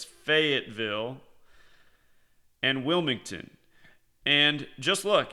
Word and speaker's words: Fayetteville: Thanks for correcting me. I pronounced it Fayetteville. I guess it's Fayetteville.